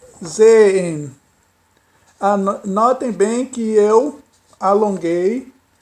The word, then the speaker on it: sehen: O H eu não pronunciei aspirado. Como seria sehen, né? Naturalmente se diria, se fosse pronunciado como se pronuncia no início, seria sehen. Mas não é sehen, isso não está correto, é sehen, sehen.